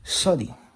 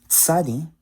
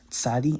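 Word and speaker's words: צדי: And then sodi. But by pronouncing it as tsadi, you can hear that's a lot sharper. It's easier to understand what letter is being pronounced when you pronounce it as tsadi instead of sodi.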